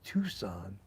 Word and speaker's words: Tucson: i was like tucks in arizona because i phonetically then someone told me it's not tux and it's tucson oh okay it's like in new york city